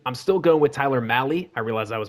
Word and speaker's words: Mahle: Apparently it rhymes with rally like Cal Rally.